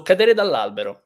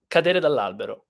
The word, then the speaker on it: cadere dall'albero: So cadere dall'albero. Does anybody have any question, or either about the meaning or about the grammar or about the pronunciation? Unfortunately, there is the R sound, the trilling R.